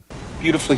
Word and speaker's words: beautifully: l l y and the stress is on the first syllable then the U is silent that's when the U